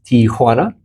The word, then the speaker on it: Tijuana: I always say T-O-1. It's not T-O-1. Correct. Tijuana.